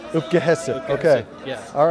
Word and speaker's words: Opke-hisip: Okay, we're going to call it Opke-hisip. Opke-hisip, okay.